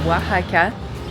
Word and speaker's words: Oaxaca: savoir bien le prononcer parce qu'avant je disais, c'est bien wahaka et c'est ça.